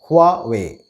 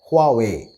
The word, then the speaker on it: Huawei: to pronounce it correctly it has just two syllables and it should be pronounced as huawei huawei with a little emphasis on the h not too much huawei if there was an